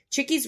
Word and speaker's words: Chickies: So Chickies Rock is named so, even though it's spelled like it sounds, but it was named for a Native American tribe that lived up there that was like Cheekway, like Chique is the English spelling of that.